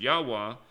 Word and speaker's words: Yahweh: Below is the math for the numerical value of YHWH, Yahweh, pronounced Yahweh, and written in Hebrew with the Hebrew letters.